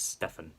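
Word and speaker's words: Stephan: Now, his name is spelled as Steven, but no, it's Stefan.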